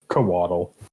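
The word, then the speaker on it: couatl: oh by the way it's pronounced coatl coatl kobato but I always I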